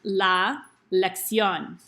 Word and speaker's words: la elección: these things in Spanish they're called accents and it tells you where to put the stress in the word so we look at this and we know it's pronounced la elección then when we make